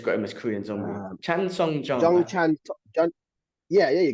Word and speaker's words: Chan Sung Jung: can assist you with my also pretty bad pronunciation of names. they just got him as Korean Zombie. Chan Sung Jung.